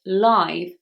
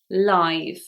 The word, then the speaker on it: live: Now this changes if we make it the adjective when we say something is live, for example, live TV. There it is I, live.